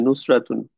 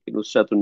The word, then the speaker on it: নুসরাত: ওইটাও হইতে পারে নুসরা, অথবা হচ্ছে গোলতা সহ আমরা যখন উচ্চারণ করি ওইটাকে নুসরাত বলি, নুসরাতুন না বলে নুসরাত বলি।